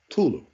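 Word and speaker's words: Cthulhu: sea is silent and the word is pronounced Tulu Tulu a direct reference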